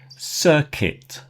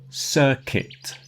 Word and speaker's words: circuit: Circuit. Circuit.